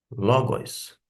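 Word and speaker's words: λόγος: Pelo contrário, eu sei que aqui a sílaba tônica se encontra em ló logos.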